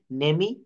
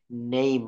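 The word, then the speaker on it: name: এর উচ্চারণ হয় না শব্দের শেষে ই থাকলে ই এর উচ্চারণ হয় না যেমন এটা হবে নেইম আমরা ই পর্যন্ত আর বলবো না একইভাবে থাম কাম এখানে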